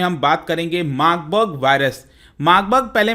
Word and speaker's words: Marburg: है जिसका नाम है मार्बर्ग, और जर्मनी में इसको, जर्मन लैंग्वेज में इसको मार्बर्ग भी कहा जाता है, लेकिन हम इसको सिंपल में प्रोनाउंस करेंगे मार्बर्ग।